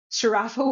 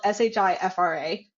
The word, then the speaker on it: Shifra: But I think it's a reading issue at that point where, like, my name is spelled Shifra. If you speak and read English, you should know that it's not Sharafa.